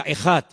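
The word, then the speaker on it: אחד: Y esa palabra, el Señor nuestro Dios es uno, es una palabra que se pronuncia ejad.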